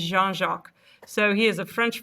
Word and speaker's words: Jean-Jacques: It is not Jean-Jacques, which I know people say it like. It is Jean-Jacques.